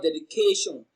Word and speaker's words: dedication: it together you have dedication k is pronounced louder and longer so the stress falls on the third syllable k dedication k is